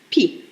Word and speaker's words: pie: désign en oiseaux et ce eux ne s'entend pas ne se prononcent pas donc en fait c'est la pi l'api dans ces pays